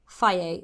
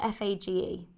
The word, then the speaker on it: Fage: So let's go with the brand Fage. It's spelled F-A-G-E. I called it Fage for like ages, but Fage, that one.